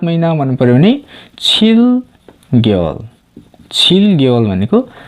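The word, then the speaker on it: 개월: यसलाई खेवल भनेर उच्चारण नगर्ने गेवल भन्नुपर्छ।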